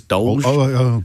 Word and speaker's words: DOLGE: Not DOGE, it's DOLGE.